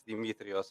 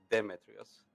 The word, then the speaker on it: Demetrios: that that sound is the D itself it's dimitrios not Demetrios okay so it's like uh dimitrios uh and